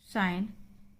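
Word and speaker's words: sign: साइन, जी साइलेंट।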